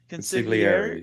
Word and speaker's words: Consigliere: Consigliere.